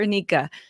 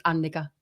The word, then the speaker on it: Annika: my pronunciation, Annika or Anika, or neither? Both, either. Both, either. Why not? Yeah, no, that was fine. Right. In Finnish, it's Annika, but it's not the easiest one to say.